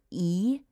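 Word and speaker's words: Uí: And you'd pronounce that how? E.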